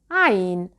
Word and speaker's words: عين: عين is articulated from this point. ع عين. You can start with ha because it has the same articulation point, but ha is voiceless while عين is voiced.